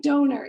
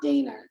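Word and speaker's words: Doehnert: and Don on stage yeah it looks like donut it looks like do Don o e h n e r t yes yes but it's pronounced derer derer okay wow she's pretty awesome but I've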